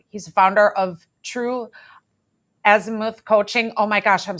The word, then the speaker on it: azimuth: And you were correct in the last pronunciation. It's azimuth.